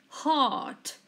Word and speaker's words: heart: carefully repeat heart again it's a little bit complicated heart we then mentioned the e and we don't mention the are yes they are silent so it is hard